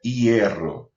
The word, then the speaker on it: hierro: Então o som da sílaba é hierro. E hierro. Então não é apenas i. O som da vogal é um ditongo. Ela tem duas vogais na mesma sílaba.